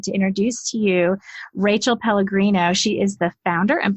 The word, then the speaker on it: Pellegrino: me just welcome Rachel Pellegrino and I should have asked you your name is pronounced like the fuzzy water it's exactly like that awesome well I was